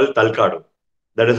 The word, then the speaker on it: Talakadu: They call it Talakadu. Or sometimes people call it Talakadu. That is how it is pronounced.